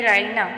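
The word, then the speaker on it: Raina: माइने है पूरी चीज मुकम्मल रायना रायना की स्पेलिंग है आर ए आई एन ए रायना और रायना के माइने है इनामो इकराम वाली।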